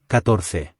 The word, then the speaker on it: catorce: 14 is Catorce. spelled C-A-T-O-R-C-E. Now you'll notice there are two C's here. The first C is not followed by an E or I, so it makes a hard k sound.